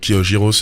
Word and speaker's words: gyros: La prononciation de gyros s'écrit G-Y-R-O, qui se prononce gyros. En fait, le G, ça se dit gyros.